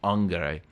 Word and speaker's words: angere: Now, what's interesting about anxious is it comes from the Latin verb angere. Well, if you fall in classical pronunciation, angere.